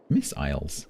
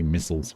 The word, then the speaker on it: missiles: We don't say missiles. We say missiles. It's one of the few words that we pronounce both vowels. In British English, if it's a two-cllable word, usually one of the vowels becomes schwah. But that one, they are both proper vowels for some reason.